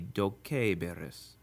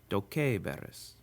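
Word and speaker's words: doceberis: So to say you will be taught, it should be dokeiberis, which with a Romance pronunciation easily becomes dokeiberis.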